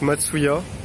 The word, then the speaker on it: Matsuya: là donc c'est donc ça se prononce matsuya donc c'est assez facile